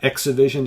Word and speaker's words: ExhiVision: Exivision, it's spelled ExhiVision, but of course you'll see that in the description of the video below.